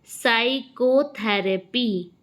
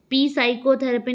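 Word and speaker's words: psychotherapy: Which letter is silent in the word साइकोथेरेपी? इसमें कौन सा लेटर साइलेंट है? तो सही जवाब है पी। ठीक, मैंने पी नहीं बोला, पी साइकोथेरेपी नहीं बोला, मैंने बोला क्या? साइकोथेरेपी। तो पी साइलेंट हो गया।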